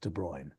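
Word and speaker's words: de Bruijn: the Victor's cultural education I am 99% certain that de bruy is pronounced de bruy like that he was D de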